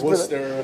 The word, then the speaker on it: Gloucester: Yeah, that's That's Gloucester.